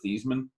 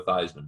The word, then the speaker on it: Theismann: he was actually joe his name was actually joe thiesman it's better than uh than for farve than favre but they but they changed he changed the pronunciation when he was in college to joe theismann to rhyme with heisman that's i know it's